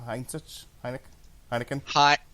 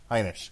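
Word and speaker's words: Heinisch: All right, we are almost set to begin here with Derek Brunson and Ian, how are you pronouncing it? Heineken? Hynek.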